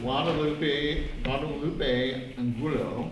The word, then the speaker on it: Guadalupe Angulo: So we have Guadalupe Angulo.